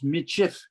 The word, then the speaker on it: Michif: they said metis okay but that was pronounced before people were reading as michif and it doesn't matter